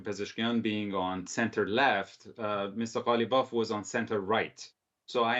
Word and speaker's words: Ghalibaf: But first, quickly, Ali, do you believe, the votes of Mohammed Bagher, Ghalibaf, I want to pronounce his name properly, if that is the correct, Ghalibaf, yes. Yeah, will actually go to Saeed Jalil?